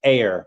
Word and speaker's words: Ayr: It's pronounced air."